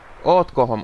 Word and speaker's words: ootko homo: It's probably onko homo. Or oletko homo. No, it's spelled OOTKO. Ootko homo.